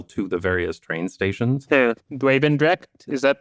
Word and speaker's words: Duivendrecht: Dwevendrecht, is that pronounced? Duivendrecht, yeah.